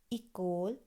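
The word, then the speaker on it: école: এগলিশ, ইকোল, আখেপোখ, ওপিতাল, ওতেল, আখদবুশ, Eugene.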